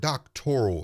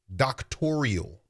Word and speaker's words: doctoral: And if you listen carefully, the word doctoral in this conversation becomes a sticking point because she can't even pronounce the word. She pronounces it doctorial.